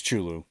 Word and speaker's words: Cthulhu: What, Cthulhu? It's great. Cthulhu? No, nobody knows how to say it. Nobody knows how to say it. Chulu. It's Chulu. I like that.